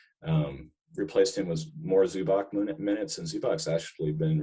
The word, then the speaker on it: Zubac: to say it correctly get out of here zubach zubach for sure okay either way he's tall